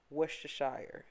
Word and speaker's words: Worcestershire: some worcestershire sauce and i said that right because i'm an og worcestershire that's how you pronounce it lemon juice without the